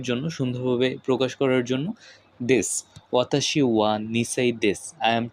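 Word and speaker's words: です: বয়স বা বছর এবং দেসুটা উচ্চারণ হবে দেস ওয়াতাসি ওয়া নিশাই দেস অর্থাৎ আমার বয়স দুই বছর।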